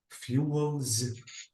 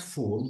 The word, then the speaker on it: fuel: is you FIS Fu fuels fuels ah exactly so fuel fuels this is a pel not fool because I heard you uh uh saying fool this is fool and this is a fuel absolutely we have F